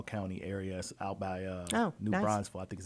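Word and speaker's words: New Braunfels: in the coil County areas out by uh new bronville I think is how you say yeah new bronville yes mhm so how many kids can stay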